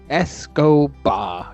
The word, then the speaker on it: Escobar: Pablo Escobar. Escobar. Yes, it's perfect pronunciation.